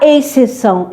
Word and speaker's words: exceção: Nada de falar exceção, é exceção mesmo. Esse x aqui não é pronunciado.